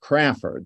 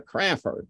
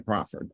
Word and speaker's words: Crafoord: Crafoord, and it's pronounced Crafoord. There's no W in it. So to pronounce it properly, it's the Crafoord Prize, not the Crafoord Prize.